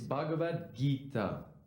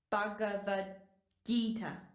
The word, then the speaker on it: Bhagavad Gita: It's Bhagavad Gita. Why don't you try pronouncing the name again? Bhagavad Gita.